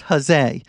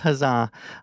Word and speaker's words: huzzah: I did learn that huzzah was probably pronounced hose but I'm gonna stick with huzzah uh but yes you